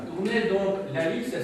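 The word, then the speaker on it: Halys: Alors, rien à voir avec l'Alice près de chez nous, à Tournai, donc l'Alice, ça s'écrit comme ça.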